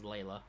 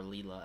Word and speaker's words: Layla: while and that was layla which is driving me nuts because i keep hearing people call her leela and i'm sitting around it's not how it's pronounced um good to see